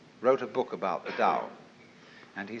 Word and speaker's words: Tao: Paul the Dao t-a-o pronounced Dao in the Mandarin dialect Tau in the Shanghai dialect toe in the Cantonese dialect take your choice Dao